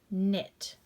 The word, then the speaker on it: knit: KN says the n sound. Knit.